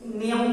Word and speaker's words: knee: उसी तरह से नी, KNEE, तो यहाँ K साइलेंट होगा, नी हुआ।